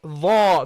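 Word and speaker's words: ذ: Not dha, not like this. No. Dha, dha. Okay? Slightly. Dha, dha, ta, dha. Okay? Slightly between your teeth. Okay? Not too much.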